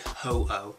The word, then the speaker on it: Ho-Oh: Marco, you pronounce it Ho-Oh from Pokemon.